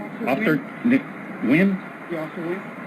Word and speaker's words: Nigian: Officer Wynn, Yeah, Officer Wynn? but it's spelled Nigian. Yeah, NG silent.